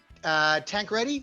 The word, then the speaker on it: Tancradi: Tancradi, is that how you pronounce it?